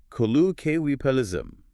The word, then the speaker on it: colloquialism: Next, we address the formidable length of colloquialism pronounced kui palism. Kukiwa is managing the complexity of those five distinct syllables without swallowing the middle is definitely a challenge.